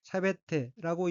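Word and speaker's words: 喋って: 셋째 줄 맨 왼쪽에 어휘는 한자가 제재거릴 척자가 들어있고 일본어로는 샤베테라고 읽으며 샤베테는 입 밖에 내다 제잘거리다 라는 뜻의 자동사 샤베루의 태형으로 샤베테는 제잘거리고 말하고의 뜻입니다.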